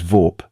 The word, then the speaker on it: Vorp: My name is Vorp. Just Vorp. Single syllable, easy to remember, harder to mispronounce when someone is screaming it in terror.